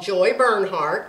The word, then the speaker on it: Bernhardt: Playlist refers to my YouTube channel called Joy Bernhardt. Just think of heartburn, turn it around, only it's spelled different. Joy Bernhardt, B-E-R-N-H-A-R-D-T.